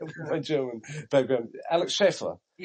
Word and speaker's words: Alex Schaefer: Am I pronouncing it right? Yes. I was I would say Shaer my German background. Alex Schaefer.